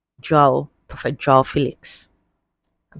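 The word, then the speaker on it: Félix: corrected us this week he said his name is pronounced Joel Felix not Felix all right so let's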